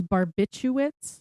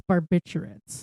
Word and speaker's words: barbiturates: Yeah, there's an extra R in there. I thought it was barbiturates. Barbiturates. But it's barbiturates.